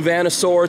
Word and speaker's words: Vanasaur: New Vanasaur t-shirt, that's how you pronounce that.